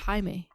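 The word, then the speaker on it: Jaime: to double check whoa Jamie cool is what in like in Spanish it would be pronounced Hae oh that's funny um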